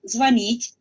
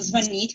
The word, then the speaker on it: звонить: Entonces, es correcto hablar звонить, solo звонить con acento en i, y yo no tenía razón, me equivoqué.